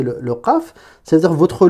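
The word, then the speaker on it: قاف: Ça veut dire que là, si je vous redessine ici en train de prononcer le qaf, ça veut dire que votre langue, elle sera...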